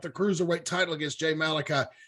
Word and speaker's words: Malachi: was saying it wrong I'm like it is Malachi right yes that's what I thought yeah you